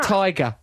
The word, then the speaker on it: Tigra: It's Yeah, pronounced tiger.